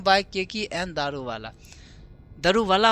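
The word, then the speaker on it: Daruwalla: दारू वाला होता है प्रोनाउंसिएशन जो हम लोग दारू वाला बोल देते हैं तो दारू वाला है।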